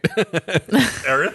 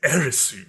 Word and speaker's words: Aerith: Did I say her name right? Aerith? Yeah, you got it. Yeah, okay, cool. I mean, some people would say her name is Erisu or something, but yeah.